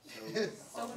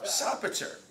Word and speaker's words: Sopater: Soap. Not soap, amen. Sopater. Sopater, his name means savior of his father.